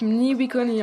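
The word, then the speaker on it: Mní wičhóni: Ça se prononce Mniwikoni en Lakota.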